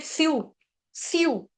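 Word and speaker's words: स्युः: फिर स्यू, स्यू, स्यू, स्यू के आगे भी जो विसर्ग है उसका उच्चारण हम करेंगे आधा स, स्युस, स्युस।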